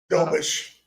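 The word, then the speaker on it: Dobeš: Jakob Dobes. Did I pronounce that correct? I hope I did. Dobish.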